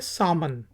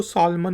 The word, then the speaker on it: salmon: इसके बाद एक मछली है SALMON, इसको कहते हैं सामन। उर्दू में हम इसको सालमन मछली, सालमन कह सकते हैं और कहते भी हैं, लेकिन इंग्लिश में इसको हम एल को साइलेंट करेंगे और कहेंगे सामन, सामन।